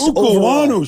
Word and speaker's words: Okuayinonu: I didn't know how to pronounce the name for a long time. I've been practicing, though. Samuel I want to Okuayinonu.